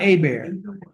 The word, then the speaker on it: Hebert: Do you pronounce Hebert or Aber? Which, no, I'm not, how do you pronounce it? I pronounce it. Hebert, okay, Hebert.